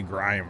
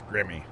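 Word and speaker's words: Grimme: is that the grimmy you say grime or something don't you ghost it's grimmy for the potato and it's ropa for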